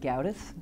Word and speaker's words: Gedgaudas: can you please say your name and spell it please my name is gauth and the spelling of my name is g